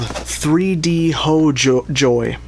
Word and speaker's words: 3DHOJOR: and they are called 3D ho joy. I think I asked them how to pronounce it and they said the R is pronounced like a Y and they said ho is like home and so I assume